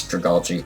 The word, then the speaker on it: Dragalge: Yeah, I always want to say it wrong, but it's Dragalge.